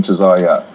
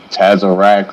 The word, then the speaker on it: Tazariak: I want to make sure I'm pronouncing that correctly. I'll put it on screen for everybody to get it spelled correctly. Yeah, definitely. You definitely pronounced it correctly. It'd be weird sometimes people say Tazariak or Tazarak or however, butcher the name, but you said it correct.